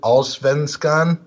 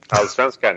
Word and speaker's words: Allsvenskan: the first division, which I could try to pronounce it, Allsvenskan. Allsvenskan, yeah.